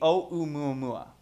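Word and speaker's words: ʻOumuamua: what i've read you you have to pronounce each letter exactly as it sounds so this would be oh umumua and the this o is a reach out for quote-unquote and the muammua places an emphasis on first so first or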